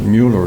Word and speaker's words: Mueller: was married to a Miller actually you would pronounce it Mueller because it was m-u-e-l-l-e-r but everybody said Miller so I never knew no better sure but